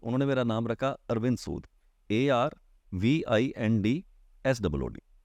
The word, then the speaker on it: Arviend Sud: तो बेसिकली हम क्या करते हैं, नेम के स्पेलिंग जब चेंज करते हो तो उसकी साउंड नहीं चेंज करते, साउंड वही रहेगी। साउंड वही रहेगा। आप अरविंद सूद को ARVIEND पढ़िए तो भी अरविंद है, ARVIEND प्रोनाउंस कीजिए तो भी अरविंद है, SOOD बोलिए तो भी सूद है, SUD करेंगे तो भी सूद है।